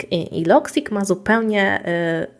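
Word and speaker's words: Logseq: teraz zaczęłam korzystać z loic i loic ma zupełnie pisze się l o g s eq to nie jest szczególnie intuicyjne także też też napiszę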